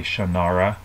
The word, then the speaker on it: Shannara: I know some people say Shannara. That's what they say in the TV series, but Terry Brooks, he says it's pronounced Shannara. I have seen a few of his talks, and he calls it Shannara.